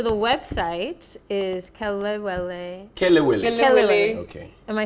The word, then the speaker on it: Kelewele: Kelewele. Okay. Am I saying it right now? Yeah. Kelewele.